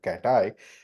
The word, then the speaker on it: CATAI: And because the acronym for this is CATAI, and it's a good way to pronounce it as a cat eye, the symbol of this is also literally a cat's eye.